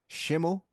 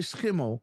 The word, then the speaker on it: Schimmel: Schimmel. Schimmel. Yeah, we say Schimmel because just like you say school, right? We say school, but we write it the same.